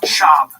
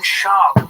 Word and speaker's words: Schaub: It's Schwab. Don't say Schwab. I'm saying it wrong? Yes, it's Brendan Schaub. Like it's a child name.